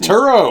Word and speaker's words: Turturro: John how do you say his last Turturro.